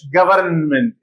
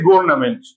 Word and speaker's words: government: means an American English government everything is pronounced many will say governament which is not correct American government everything is